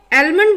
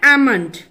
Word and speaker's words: almond: एलमंड बोलते हैं लेकिन इसकी सही प्रोनाउंसिएशन है एमंड, एमंड, एमंड, एमंड।